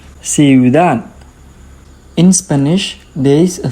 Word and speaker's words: ciudad: We have I, U together, so they are going to stay with the same syllables, and it is a quick pronunciation, ciudad.